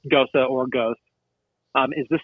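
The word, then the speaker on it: Gose: you have a ghosta it looks like just g-o-s-e pronounced ghosa or ghost um is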